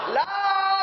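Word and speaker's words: لا: জোরে বলেন কি বলা লা তিন আলিফ টান কয় আলিফ লা কয় আলিফ তিন আলিফ বলা হয় তিন আলিফ উচ্চারণ করার পদ্ধতি আমাদের মুরুব্বিগণ আমাদেরকে শিক্ষা দিয়েছেন তিনটা সোজা আঙ্গুলকে একের পর এক বাঁকা করতে যতক্ষণ সময় লাগে তিনটা বাঁকা আঙ্গুলকে একের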